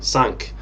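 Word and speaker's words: Cinque: kind of funny that her name is pronounced sync in fact even if you look at the japanese it's and it's written like shinku whereas in french it would actually be sank but that's a completely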